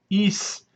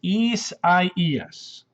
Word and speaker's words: Isaias: And the way to pronounce this is Isaias. Isaias. That's how we pronounce it. Isaias.